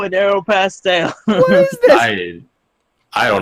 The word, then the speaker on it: Aeropostale: Jack says Aeropostale. Aeropostale. There's no stole. Say that again. Aeropostale.